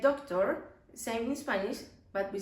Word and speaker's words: doctor: Algunas palabras que terminan en OR, like doctor, same in Spanish, but we say doctor. ¿Sí? And if it's, that one is man. But if it's a woman, we say doctora.